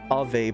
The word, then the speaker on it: Ave: In the nation of Ave, pronounced Av, supposed to be spelled A-V.